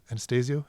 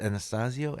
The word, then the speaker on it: Anastasio: Anastasia. Anastasia. Anastasio. I don't know how to pronounce that.